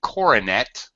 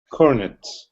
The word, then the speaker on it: cornet: You should not say coronet. What should you say? Cornet.